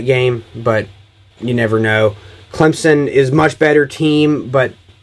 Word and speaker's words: Clemson: who knows and now Clemson Clemson I said Clint Clemson that's not how you pronounce it Clemson uh you all know if you all know